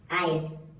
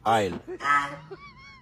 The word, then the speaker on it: isle: Isle. Yes, isle. Such as isle, there's S there, there's L. It's isle.